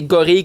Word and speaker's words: gorille: les deux sont comme semi-acceptés, mais la vraie bonne version, la vraie façon de le dire, c'est gorille comme fille ou bille.